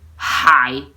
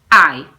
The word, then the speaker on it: hai: You cannot say tu hai, no. You say tu hai. You don't make it feel. You don't pronounce it. Tu hai, it's mute. It is called mute H.